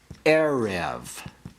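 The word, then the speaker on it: עֶרֶב: Segolate nouns are accented on the first syllable. For example, we have the word melech. Melech means what? King. We have the word erev.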